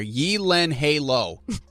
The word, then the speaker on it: Gyllenhaal: name is actually pronounced this is the phonetic spelling here Yi Len Halo is that a Beyonce song the only two places that it's pronounced correctly my last name is in Sweden and Ikea that's kind of funny